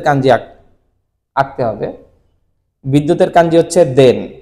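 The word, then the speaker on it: 電: দ্বারা দেন বুঝায় এবং এর উচ্চারণটা হচ্ছে দেন এবং তার অর্থ হচ্ছে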